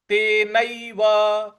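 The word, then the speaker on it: तेनैव: बल लगाना है पूर्वाभ्यासेन तेनव ते नैव न पर ऐ की जो मात्रा है उसको ऐ बोलना है तो ते नैव तो यह किस प्रकार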